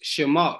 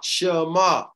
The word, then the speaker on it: Shema: for here Jay Hebrew songs number 80 85 pronounced Shema Shema say so the Ministers of the father come